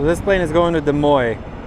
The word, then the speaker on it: Des Moines: So this plane is going to Des Moines. I always want to say Des Moines because in my language you actually say you pronounce it the way it's like spelt.